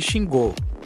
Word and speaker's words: Xingu: o embra MB 121 Xingu pronunciasse xingou é uma aeronave biturbo